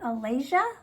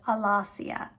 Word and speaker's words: Alasia: I looked at it at first and I was like, is that Allesia? Allesia, but I looked at I like to look up pronunciations when I'm not sure. And what I found was Alassia.